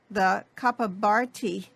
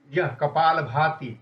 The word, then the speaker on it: Kapalabhati: The Kapabharti, is it called? Kapalabhati. It's not Bharti. Kapalabhati.